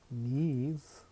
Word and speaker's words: mise: Okay, hello from MEEZ, okay, pronounced as MEEZ, okay, and give an empty tuple.